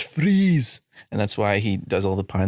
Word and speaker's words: Fries: It's not Fries, it's Freeze. Sorry, it's really hard to understand you with that accent. Fries? It's Freeze.